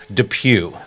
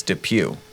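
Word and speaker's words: Depew: It's like not how it's spelled, you know, traditionally, but it's Dep Pew.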